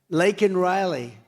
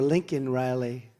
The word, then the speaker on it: Laken Riley: Laken Riley. And, you know, Biden was unable to pronounce her name. Called her Lincoln Riley.